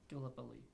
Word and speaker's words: Gallipoli: It's like it's a name that like I don't even know how to pronounce it. Gallipoli.